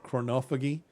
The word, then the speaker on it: chronophagy: I think the proper way of saying is chronophagy, but it just it's a funny word to pronounce.